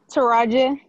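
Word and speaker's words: Triajeh: it was dying earlier but t-r-i-a-j-e-h i can't pronounce that name i'm sorry taraji okay thank you and then um was this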